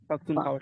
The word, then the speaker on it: Pakhtunkhwa: yes, Okay, Pakhtunkhwa. Pakhtunkhwa.